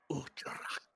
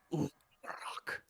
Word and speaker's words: Uttarak: They call me Uttarak. I like that. Cool. How do you spell that? Asking for my notes. Spell. Utcharrakk. Tarat. Utkarak? Utrak. Ut. Kind of roll the R's. Utcharak. Rak. Uttarak.